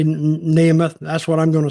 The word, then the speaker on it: Nemeth: Well, some pronounce it Nemeth, some pronounce it Nemeth. I'm just sort of pronouncing it how it's spelled, really. So either way, I guess. I'll say Nemeth.